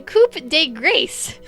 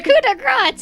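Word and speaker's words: coup de grâce: grace to wow french we did not know how to pronounce that as kids the coop de grace oh my goodness that's terrible the coup de grace a queen coma strike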